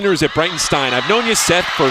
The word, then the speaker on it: Breitenstein: It is like a German beerstein of beer.